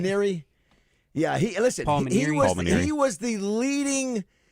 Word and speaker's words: Maneri: Can you pronounce the name of the coach that got let go? Is it It's Maneri, right? Maneri.